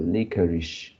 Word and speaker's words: licorice: never ish and and just now you you pronounce like the uh legal is something like that so is a licorice licorice is it correct yeah okay the defense